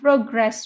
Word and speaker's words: progress: is now good wow so still remember that when we have verb the stress is on the second syllable when we have noun the stress is on the first syllable number two any one